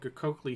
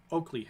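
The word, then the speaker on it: Qokli: it a little bit the coakley hill is not pronounced that way it's more pronounced like oakley hill because the gq like iberha is um a click noise in bantu languages specifically zulu which was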